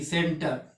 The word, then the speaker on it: centre: ठीक है, जैसे कि यहाँ पे आप देख सकते हैं लिखा हुआ है CENTRE, सेंटर।